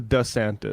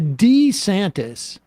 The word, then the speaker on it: DeSantis: most recent pronunciation was the newest one is the DeSantis okay the the D santis was too like ethnic sounding like honestly like either Two Italian or maybe two Latin you know yeah and